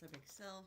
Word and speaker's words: Xcel: So she will excel at everything but it's spelled XCl. So don't get it wrong.